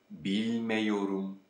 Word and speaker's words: bilmiyorum: As you see, what we obtain is bilmiyorum. Bilmiyorum. Here, because of the yor suffix, the a sound at the end of the negation suffix changes to E.